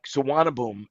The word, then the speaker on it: Suvarnabhumi: Like Suvarnabhumi is the airport. That is the way you pronounce it, but you would never guess it if you could never spell it unless you actually saw the spelling.